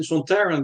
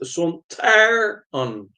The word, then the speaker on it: Sontaran: I think that Kevin Lindsay insisted on pronouncing Sontaran by stressing the second syllable, Son, Ter, An, rather than using Robert Holmes' envisioned pronunciation, which stressed the first syllable, Son, Ter, An.